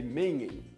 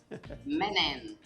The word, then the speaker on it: Menhem: Eu estou conversando com Michele Mengen. A Michele é especialista no assunto e tem uma vasta experiência também, né, Michele? Pronunciei o seu sobrenome correto, Michele? Menen. Menen, é isso.